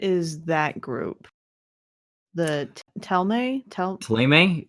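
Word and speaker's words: Thélème: Taleme? It's okay. Teleme.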